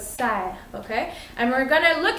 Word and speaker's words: cerf: You're not supposed to say cerf, but serre, okay?